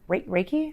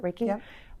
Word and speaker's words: Reiki: Reiki is how you pronounce it. Raiki.